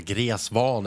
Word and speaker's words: Gräsvan: So from Babylon, we're going to Gräsvan, or Gräsvan as we say in Swedish. Nobody actually knows how to pronounce that map.